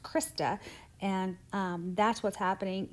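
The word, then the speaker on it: cristae: what that thing does that's called the that's pronounced krista and um that's what's happening inside of there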